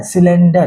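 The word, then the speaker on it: cylinder: सिलेंडर। सी के just बगल में वाई है, इसलिए इसका भी उच्चारण किससे हुआ? सौ से।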